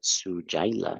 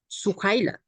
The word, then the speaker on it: Suhaila: I don't know how to pronounce that. Sujaila. Sujaila. a ver, Suhaila.